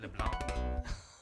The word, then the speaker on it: LeBlanc: Yes, he pronounced the C, Dorothy. That's funny. Dorothy LeBlanc.